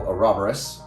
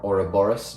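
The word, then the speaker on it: ouroboros: to have a skeletal orborus or oroborus depending on your pronunciation or a snake eating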